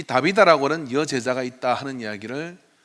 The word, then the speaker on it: 다비다: 그러나 오늘 본문에서 우리가 언급했던 이 다비다라고 하는, 정확하게는 타비사라고 하는 발음인데, 이 타비사라는 여인의 헌신은 좀 다른 색깔을 우리에게 가지고 있고 오늘 이 시대에 우리에게 주는 그런 의미가 있는 것 같습니다.